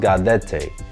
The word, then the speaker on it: gaudete: screen right now, and it's actually pronounced gaudete. It's broken up into 3 syllables, and I'm going to spit them up here on the screen so you can actually say it.